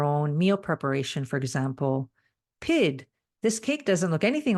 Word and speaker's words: pyt: It's pronounced PID and spelled PYT.